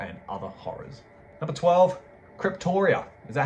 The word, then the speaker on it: Cryptoriana: Number 12, Cryptoria. Is that how you say it? Cryptoriana? Cryptoriana.